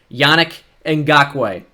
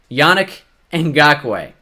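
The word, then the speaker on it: Yannick Ngakoue: good player and of course his name is pronounced Yannick and Gok way Yannick and Gok way I mean you guys are gonna get it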